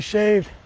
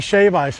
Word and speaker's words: shave ice: Why is it that all the locals say it's only shaved, or it's only shave ice?